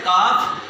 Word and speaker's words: calf: काफ। और घुटने को क्या कहते हैं? नी। पिंडली को क्या कहते हैं? काफ। इसमें एल साइलेंट करते हैं, CALF का।